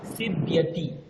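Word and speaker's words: सीव्यति: Sarita সুচিয়া সিচিয়তি স্যার এটার উচ্চারণটা কি স্যার সিবতি সিবতি স্যার সিবতি মানে সেলাই করা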